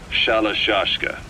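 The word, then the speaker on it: Shalashaska: somewhere along the line, Shashka got stuck on the end of Sharashka. The guerrillas were using the name amongst themselves, and by the time I got to hearing about it, pronunciation had wound up as Shalashashka. So, half Gulag, half Hero's sword.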